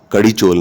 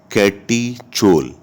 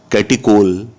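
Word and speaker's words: catechol: कड़ीचोल नहीं, कैटीचोल। कैटिकोल भी कह सकते हैं। कुछ टीचर कैटिचोल प्रोनाउंस करते हैं, कुछ कैटिकोल प्रोनाउंस करते हैं।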